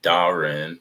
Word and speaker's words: Dahren: I really appreciate it my name is pronounced Darren darling sorry sorry oh